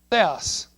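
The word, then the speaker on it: θεός: That is pronounced, "THAY-oss." First is a "TH," then an "E," then an "O," then an "S."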